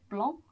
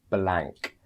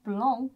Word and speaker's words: blanc: accompanied by the word blanc on the end. And, you know, you guys might actually think that this one is pronounced blank because it does end in a C.